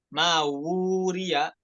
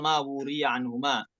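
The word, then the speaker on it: مَا وُورِيَ: Mawuriya 2 harokat ya. Mawuriya anhuma. Itu ya-nya bukan ya, bukan dibaca mawuri, tapi di situ dibaca mawuriya anhuma. Ya, ketika wasal mawuriya anhuma.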